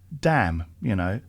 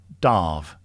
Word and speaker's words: Damh: anybody, but it's pronounced it's a Scottish Gaelic word, and it's pronounced Darve. Oh, Darve. I've never ever heard anyone refer to you as Damh the. No. I try and avoid it because it sounds a bit up itself. But basically, actually, it's Darve. So the word is pronounced Darve, and it's essentially Gaelic for stag.